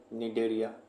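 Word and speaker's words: Cnidaria: ठीक है है डेरिया सी से स्टार्ट है लेकिन सी को साइलेंट रखेंगे इसको क्या पढ़ेंगे डेरिया इसी को बोलते हैं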